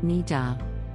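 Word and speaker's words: niddah: This week's Jewish terminology word is nida, pronounced nida.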